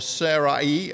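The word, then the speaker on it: Sarai: and years abraham and serei or sara e as some people pronounce it they held on in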